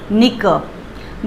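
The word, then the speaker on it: knock: नॉक, नॉक करना, दरवाजे को नॉक करना, सो NOCK, K रहेगा बट साउंड नहीं आएगा।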